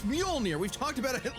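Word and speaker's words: Mjölnir: By this point, you know it's pronounced Muolnir. Molè. Close. It's Muolnir. We've talked about it at least a dozen times by now. I know. It's just funny how much mispronouncing it pisses you off. Malinire.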